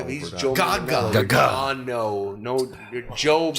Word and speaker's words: Manganiello: Joe Manganiello. Gaga. John, no, you're Joe. I'm getting there. Joe Manganiello. You're missing you're missing Relax. 4 syllables. You're missing 4 syllables there. Yeah. Manganiello.